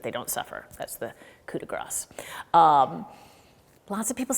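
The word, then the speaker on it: coup de grâce: The first thing I want to say is a pronunciation thing. There is an expression, coup de grace.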